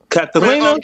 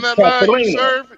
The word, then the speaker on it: Katarina: It's all good because I tell you, it's the one that got away with me, Katarina. That's how you say her name, Katarina.